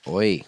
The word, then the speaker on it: Hoy: Wait, now is it Oi? Oi. Oi. HOY. Oh, okay. The H is silent.